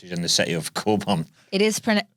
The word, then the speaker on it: Cockburn: in the city of Coburn it is it is pronounced Coburn but it is read cockburn we had people not